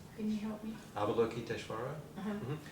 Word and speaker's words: Avalokiteshvara: Avalokiteshvara. Uh-huh. So look at the word. Okay. The A-V-A-L-O. Avalo. Avalo. K-I-T-S-H. Kitesh. And then V-A-R-A. Vara. Kiteshvara. Kiteshvara. Look at my mouth too.